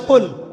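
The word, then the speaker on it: قل: সাথে পড়তে হবে যেমন একটা অক্ষর আছে কফ বড় কফ যেমন কফ দিয়ে একটা শব্দ আছে কুল আপনারা সূরা পড়ছেন নামাজে কুলহু আল্লাহু আহাদ তাই পড়ছেন না তো এই কুল শব্দের অর্থ হচ্ছে বলুন কিন্তু আপনি যদি কফ এর মাখরাজটা ভুল করেন এবং কফ না বলে আপনি ছোট কাফ পড়েন এবং কুল না পড়ে আপনি কুল পড়েন বলেন যে কুলহু আল্লাহু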